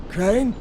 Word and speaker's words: Crane: store no my name's crane crane crane rhymes with train and brain and sign and grain and rain and plane and the other kind of plane and and can i